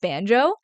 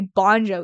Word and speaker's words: Bonjo: I know your name is pronounced Banjo, and I always say Bonjo, even though in my head I know it's Banjo.